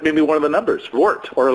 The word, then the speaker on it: Wort: You say it like Wort. very much. I'm going to bring the Vort to you.